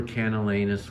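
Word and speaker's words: Camallanus: from, but these were Canalenus worms, right? And I pronounce it with the word anus because these hideous parasites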